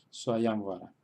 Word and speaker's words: Swayamvara: Por tanto, detrás de la ya tenemos anusvara y tenemos una va. Por tanto, ahí es donde se queda el acento en la sílaba ya. Swayamvara.